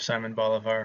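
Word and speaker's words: Simón Bolívar: south like I did, you'll pronounce his name Simon Bolivar. uh my roommate whose parents were from South America um was my roommate 10 years ago uh would pronounce it the correct way uh Simon Boliv.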